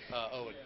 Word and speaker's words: Eoin: Owen. Owen. Yeah. So the Gaelic, sorry. The E is silent. Yes.